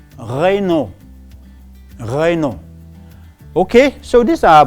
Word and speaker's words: Renault: And we have another brand, and I often hear people say Renault, and it is called Renault.